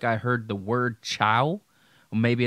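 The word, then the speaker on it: Chao: Maybe it's a name, I don't know, but I heard chow, but it was spelled C-H-A-O, not C-H-O-W or C-H-O-A or something like that. I don't know. But that's what I heard was chow, but it wasn't spelled like we spell chow, like C-H-O-W.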